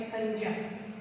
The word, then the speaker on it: संज्ञा: जबकि भाषा विज्ञान की दृष्टि से हम देखें तो इसका उच्चारण होना चाहिए संज्ञा, लेकिन आजकल हम इसका उच्चारण गे के रूप में करने लग गए हैं।